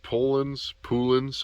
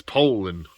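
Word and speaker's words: Poulan: You guys know I got Dolmars, I got Polans. I think it's actually Poland though, friends. There was a Poland commercial with two guys, and the one guy's like, "It's Poland, Ed. It's Poland." That's how you say it.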